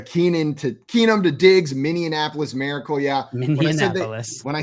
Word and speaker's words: Minneapolis: reason my brain does it really feels like there should be another syllable in that city name I shouldn't have said